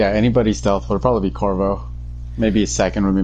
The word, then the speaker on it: Corvo: Corvo? Yeah, Corvo, yeah. Yep, I got the mask. Looking at it right on the table right now. Honestly, if there was anybody, probably, anybody stealth would probably be Corvo.